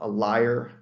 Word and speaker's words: lyre: That's spelled A-U-L-O-S. And then there's a lyre, L-Y-R-E, which is a type of, similar to a harp, play a stringed instrument popular with the Greeks.